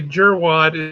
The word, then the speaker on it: jerkwad: So yeah, apparently a jerwad is actually just a jerkwad with a silent K.